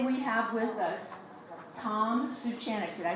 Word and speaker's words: Suchanek: Today we have with us Tom Suchanek. Did I say that right? Correctly? How do you say it? Close enough. Okay. How do you say it? Suchanek.